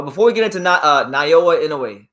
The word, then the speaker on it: Naoya Inoue: we get into uh NAA inway Nowa inway let me say the pronunciation right because this is one